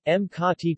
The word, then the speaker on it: Makati: Makati, Makati Tagalog pronunciation, Makati, officially the city of Makati, Tagalog,